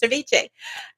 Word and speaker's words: VCHA: Like Viche. Uh thank you for helping me with the pronunciation.